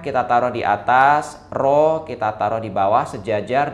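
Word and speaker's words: ρ: ya massa jenis larutan dilambangkan dengan roh bacanya roh kayak pala itu ya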